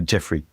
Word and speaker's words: Geoffroy: Um, I always get the pronunciation wrong. Hello, Joffrey. How welcome to the show. Thank you, Christopher. You could call me Jeffrey.